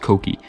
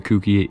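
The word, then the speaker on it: Kouki: are about to say Mark it's koki it's pronounced koki I don't care man I still call it the Kookie it just rolls off the tongue better anyway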